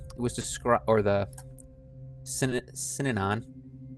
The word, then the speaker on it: Synanon: It was described or the Synanon. How do you say it? Synanon.